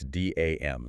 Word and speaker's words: DAM: And just to check, that's DAM, the letters. Yes. Dam. Please do not pronounce it like the river barrier.